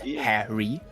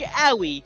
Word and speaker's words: Harry: Pronounced Harry. It's pronounced Howie. We've been over this.